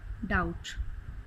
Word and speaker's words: doubt: Third in the third column the word letter B is silent. Settle, dumb, debt, plumber, numb, doubt. In fourth column the letter G is silent.